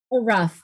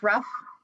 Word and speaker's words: Ruff: h and harry and you pronounce it miss roof rough rough okay thank you all right um miss collins will hire you may question the witness thank you your honor and it's miss ruff i'm pronouncing it correctly thank you um uh